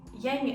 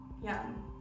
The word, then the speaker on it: yang: behind the yin yang young sorry i pronounced that wrong earlier it's the yin yang symbol yeah i'm gonna give